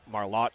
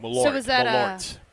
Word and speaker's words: Malort: George Webb is to burgers what Marlott is to liquor.